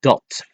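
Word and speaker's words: dat: That is dot pronounced as dot. It's spelled d a t.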